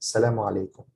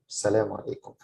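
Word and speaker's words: السلام عليكم: However, in Egypt, it's not pronounced like most of the time. People say just Salamu alaikum, Salamu alaikum, like this, Salamu alaikum.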